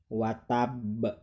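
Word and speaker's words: وَتَبَّ: ada di akhir ayat maka cara bacanya diwaqofkan seperti ini What Tambak diwakafkan menjadi wattab yah jadi disukunkan nah ketika kalian mengucap wattab mata banyak harus memantul wattab wattab Hai nah ini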